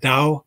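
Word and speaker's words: Dau: book historic trinity lutheran church they have the dao library and that's spelled d-a-u and it's a library of all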